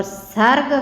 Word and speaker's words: सूर: सूर है सूरदास और शूर, इनमें सिर्फ स के उच्चारण में अंतर है। एक स सड़क है और एक श सलगम है।